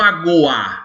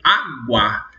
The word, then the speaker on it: aguar: Preste atenção, não é o verbo agoar, é o verbo aguar.